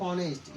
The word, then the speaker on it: honest: But here is the pronunciation of ऑनेस्ट इज आ.